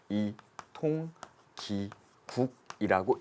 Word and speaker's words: 이통기국: 어떻습니까 국한된다 껍데기는 국한된다 그래서 어떻게 읽느냐 이통기국이라고 읽어요 근데 말이죠 이게 2번에